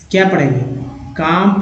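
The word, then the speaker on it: calm: तो उच्चारण CLM को क्या पढ़ेंगे, काम पढ़ेंगे, काम, न कि काम पढ़ेंगे।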